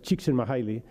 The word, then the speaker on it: Csikszentmihalyi: Se pronuncia más o menos Csikszentmihalyi, el apellido de este,